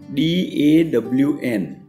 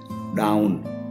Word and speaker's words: dawn: See, D-A-W-N. Some people pronounce it down, wrong. D-O-W-N down થાય છે, અને D-A-W-N dawn બોલાય છે.